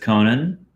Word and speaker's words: Conan: steal second appearance of conan i always say it like Conan O'Brien Conan Conan I valued